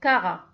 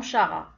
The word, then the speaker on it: Chara: Le règne planta, l'embranchement chlorophycophyte, classe Carophyceae, ordre Caral, famille Caracée et genre Cara. Bien sûr, on écrit avec un CH, mais on prononce K et non Ché, non Chara, Cara.